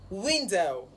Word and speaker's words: window: Window. Window. Window. So the stress is on the first syllable, window. Okay, so on the comment